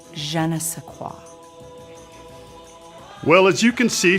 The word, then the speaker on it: je ne sais quoi: Ron, you pronounced it wrong. It's je ne sais quoi.